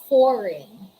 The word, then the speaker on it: foreign: case you don't pronounce the letter g letter g is muted letter g is silent what are the examples these are the examples the examples are design foreign sign nash align we